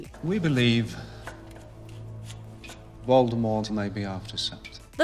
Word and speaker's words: Voldemort: Maybe Voldemort evened him out. Number nine, the T is silent. Harry Potter franchise. Voldemort is a name many